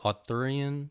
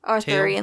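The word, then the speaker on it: Arthurian: And then you explained to me this uh how do you pronounce it? Aruran. Arthuran legend.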